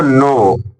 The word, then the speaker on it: know: जानना जानना बोले तो नो यहां पर के साइलेंट है बच्चों वैसे तो लिखा है कनऊ है ना लेकिन नो पढ़ेंगे यू डू नॉट नो